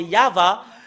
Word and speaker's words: Yahvah: voyons dans le chefer T de juif c'est yava et ça prouve très bien que voilà la